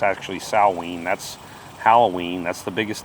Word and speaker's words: Samhain: If you were to write it out, it sounds like it's spelled Samhain, but it's actually Samhain.